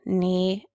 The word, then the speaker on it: knee: we here is our which consonant is pronounced in the K n sound spelling pattern new knee and knock we only hear the N that's right and which